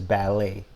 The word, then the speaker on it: ballet: ballets okay ballet no so we don't we don't pronounce the T is this ballet badly yeah ballet okay